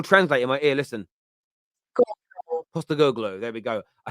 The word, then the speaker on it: Postecoglou: Is that pronounced? Is that right? I've got Google Translate in my ear. Listen. Postecoglou.